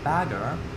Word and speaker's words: Bagger: Fun fact, bagger, pronounced the same as the English bugger, actually means excavator in German. Bagger. Yeah. Although the R is more pronounced, I think, or pronounced differently.